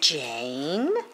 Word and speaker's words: Jane: this again look jan jane yeah e is silent and it just makes that vowel say a that's its name c